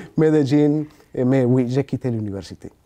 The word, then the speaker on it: Medellín: Qu'on prononce ici Medellín, Medellín, mais oui, j'ai quitté l'université, oui.